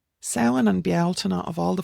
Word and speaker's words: Samhain: We have Samhain, not Samhain.